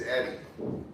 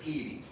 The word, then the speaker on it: Edie: I don't know, I'm terrible at Because I always look quick and I see it as Eddie, but it's Edie.